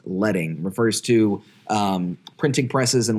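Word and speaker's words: leading: lines of text that is what we call letting spelled like lead but pronounced letting refers to printing presses and what they would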